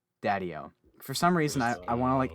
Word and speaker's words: Daddio: last name so i don't emphasize the wrong syllables daddyo daddyo for some reason i want to like emphasize